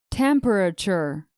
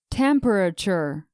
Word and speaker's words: temperature: to say quickly as the t takes on a ch sound let's pronounce this word several times before using it in a sentence listen and repeat after me temperature temperature temperature examples let me check